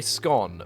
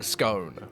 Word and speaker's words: scone: I I like to say scone because I just don't like saying scone, right? I really don't like saying it, but I know that it's probably the correct way to say it, right?